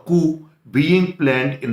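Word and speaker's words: coup: Neither the minister NOR the intelligent sources was aware of द Koo being planned in the country. देखिए इसको कूप नहीं बोलेंगे, इसका pronunciation कुई है।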